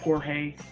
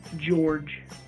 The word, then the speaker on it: Jorge: When he was getting tased, like I was saying, get up, Jorge. And then he yelled up, then George yelled out, my name is pronounced George.